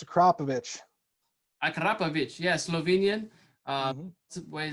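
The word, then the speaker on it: Akrapovič: I have Akrapovic, Blur Optics, Pronounce Akrapovich.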